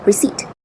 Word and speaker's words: receipt: All right, for the first word, the correct pronunciation is receipt.